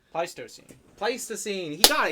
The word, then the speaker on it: Pleistocene: the scientific term Peter oh wrote down the pronunciation folk it's the pleistio scene pleistocene place the scene he got he got on